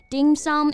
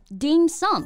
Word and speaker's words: dim sum: His dad founded Hollyland 30 years ago, and today the bakery has thousands of stores across China selling cakes, pastries, dim sum, and coffee drinks.